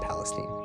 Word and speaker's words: Palestine: in East Palestine Ohio that's how they say it I would say Palestine but they say Palestine a bunch of toxic